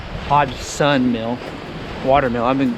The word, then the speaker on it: Hodgson: the front of the mill where it says hodgson hodge sun mill water mill i've been pronouncing it wrong this whole time so right